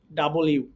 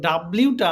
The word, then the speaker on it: W: সো আমরা এখন চলে যাই হচ্ছে ভির পরে ডাবল ইউ। সো ডাব্লিউটা আমরা এভাবে উচ্চারণ করে থাকি ডাব্লিউ, বাট এটার এক্সাক্ট উচ্চারণ হচ্ছে ডাবল ইউ, ডাবল ইউ।